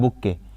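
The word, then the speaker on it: bouquet: BOUQUE, बुक्के हो गया, और इसके लास्ट में टी होता है, यहाँ पर टी साइलेंट होता है, बुक्के।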